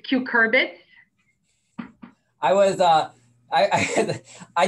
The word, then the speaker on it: cucurbits: and by the way you were close with your pronunciation it's cucurbits i was uh i